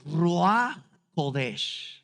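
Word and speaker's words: רוח: prometió enviar al rodes en hebreo y me gusta pronunciarlo en hebreo rodes sabes por qué Porque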